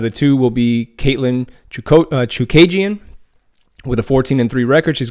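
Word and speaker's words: Chookagian: So obviously by beating the number 1 ranked fighter why do I keep saying her name wrong? Chukagian.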